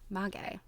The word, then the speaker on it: maguey: Oh, I love a pronunciation. I like to not have to guess because I'm always guessing wrong. Maguey.